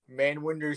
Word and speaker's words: Manwinder: Manwinder, how do you pronounce it? Manwinder, that is my full name.